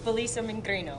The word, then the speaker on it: Felicia: be was i close you're pretty close it's felicia say that again yes if you can't really i can't roll the r i'm i'm from pittsburgh